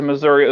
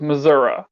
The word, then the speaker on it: Missouri: it's spelled out but like half of all americans refer to missouri as missouri i'm like why would you call it that there's no you in there in that [ __